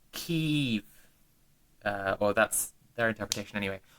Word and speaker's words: Kyiv: But then what bothered me was how I understood from Xenia's comment here how to say Kiev sounded more like the Russian pronunciation in those recordings than the Ukrainian one, which was more like Kyiv.